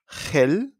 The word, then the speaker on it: gel: And sounds like that hello a little bit stronger when it's followed by an E or an I. Gel. Remember, we don't say gel, we say gel, gel.